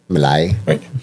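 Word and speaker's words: Milei: Well, I guess it's going to depend on the election though because if that Mille or how do you say it do? Mallay.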